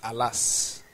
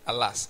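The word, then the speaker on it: עלס: it me means is a Hebrew word that's pronounced alas actually alas a l a s you know it means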